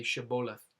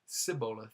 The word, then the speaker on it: Shibboleth: were Ephraimites or not, they would have them say Shibboleth, which means a flowing stream, and he would say Sibboleth. So they couldn't pronounce the H-I.